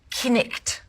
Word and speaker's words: knight: The word knight, knicht.